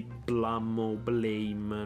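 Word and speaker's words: BLAME!: dallo stesso autore di Blame, non so, cioè è scritto Blame, ma da quel capito si pronuncia Blam.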